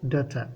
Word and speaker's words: daughter: dhashay ayaa la yiraahdaa daughter gh lama aqrinayo, waa silent letter.